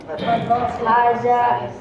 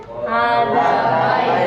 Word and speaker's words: هذا: Haza baitun. Hada baitun. Da. Da. Da. Bukan za ya, tapi da.